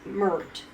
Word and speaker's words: Mert: And this guy was Mert. That's what his name is, like M-U-R-T or something. You know what Mert rhymes with? Dirt.